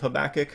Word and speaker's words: Habakkuk: the whole book of Habakkuk, or Habakkuk, if you like to pronounce that in Hebrew. I think that's actually a chet also, so that might be Habakkuk, I think that is.